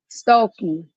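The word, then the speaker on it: Stuelke: Is that how you pronounce that last oh, name, Stokely? Stokely.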